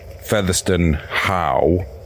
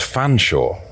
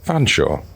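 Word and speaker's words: Featherstonhaugh: and I mean everyone who's pointed out the featherston Howe is pronounced fan Shore when it's a surname yeah featherston Howe which is like feather Stone and then h-a-u-g-h that's pronounced fan sure unbelievable the fan sure how anyway if you're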